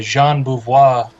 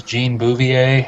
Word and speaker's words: Jean Beauvoir: Learned that I've been saying his name wrong, because I sure thought it was Jean Bouvier.